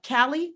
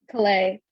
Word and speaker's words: Calais: that I have of Callie. Did I pronounce it right? Calais. Calais. See, that's why I said I did not want to mispronounce.